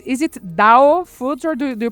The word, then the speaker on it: Dao Foods: So first of all, just to make sure that I pronounce it right, is it Dao Foods or do you pronounce it differently?